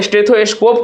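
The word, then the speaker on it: stethoscope: स्टेथोस्कोप को अगर हम लोग तोड़ते हैं तो किस प्रकार से तोड़ेंगे? एस टी ई टी एच ओ एस सी ओ पी यानी कि अगर इसमें से सलेबल पूछा तीन होगा। यहां कहां लगता है? प्राइमरी सेलेबल यानी कि फर्स्ट पे लगता है। तो इसका आंसर क्या हो जाएगा? फर्स्ट सेलेबल हो जाएगा।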